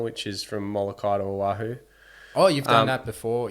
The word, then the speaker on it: Oahu: How do you pronounce that? Oahu.